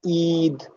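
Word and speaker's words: عيد: যেমন ঈদ, এই যে টান দিচ্ছে একটা ঈদ বলে, এখানে দীর্ঘ ই দেওয়ার কারণে ঈদ টান দিচ্ছি, এটা আমরা এখন ইউজুয়ালি ব্যবহার করি না, বাট থাকতো গ্রামাটিক্যালি।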